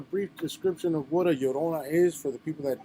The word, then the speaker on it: Llorona: you give a brief description of what a yorona is for the people that don't know watching